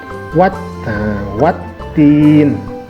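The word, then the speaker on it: وَالتِّينِ: Kemudian yang keempat, misalkan contoh Wat-Tin. Nah, bunyi wa ini langsung dihubungkan ke huruf ta yang bertasydid, maka dibaca Wat-Tin, Wat-Tin. Nah, seperti itu. Nah, alif lamnya tidak dibaca karena dia tidak bertanda baca.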